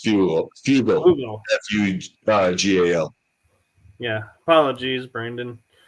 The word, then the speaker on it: Fugal: And so I'm like, yeah, Frugal. you guys are. He's not frugal at all. But, oh, did I mispronounce his name? Yeah, you said frugal with the R. It's fugal.